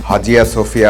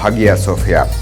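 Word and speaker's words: Hagia Sophia: এই স্থাপনাটির উচ্চারণগত নাম হাজিয়া সোফিয়া বা হাগিয়া সোফিয়া। তুরস্কের লোকজন বলেন আয়া সোফিয়া, ল্যাটিন ভাষায় বলা হয় স্যাংটা সোফিয়া এবং ইংরেজিতে বলা হয় হলি উইজডম।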